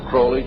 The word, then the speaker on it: Crowley: at his name pronounced Crowley's a rhyme with holy and the Satanists today